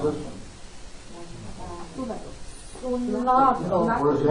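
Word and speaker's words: συνάγω: How do you pronounce this one? Sunago.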